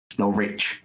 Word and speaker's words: Norwich: Norwich. Just don't pronounce the W.